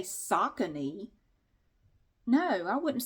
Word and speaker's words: Saucony: According to Google, this is pronounced Saucony, like sock-a-knee, like sock-a-knee, sock-a-knee.